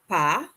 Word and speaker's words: pas: Then, pas. Notice again, we're not pronouncing that final consonant, that S.